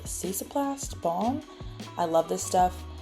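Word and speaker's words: Cicaplast: the La Roche Posse I think it's pronounced cesoplast balm I love this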